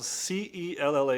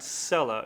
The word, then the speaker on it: Cella: It is spelled C-E-L-L-A. It's not Cella, it's Cella, because it's Italian, of course.